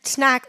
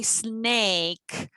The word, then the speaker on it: snack: What better snack than this? Do you know how to use? I used to say snack. I used to mispronounce it and say snake.